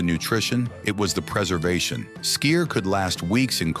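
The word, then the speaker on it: skyr: Number one, sky, pronounced skier.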